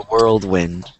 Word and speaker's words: world: World. I think that's such a good one. World. Yeah, it's like the weird, the W is like, it's like world. Yeah. Kind of think of it like a whirlwind.